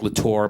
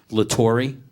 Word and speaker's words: LaTorre: for 20 years that I know you, it's been LATORRE, but the actual pronunciation, if I'm not mistaken, is LATORRE. That's correct, yes.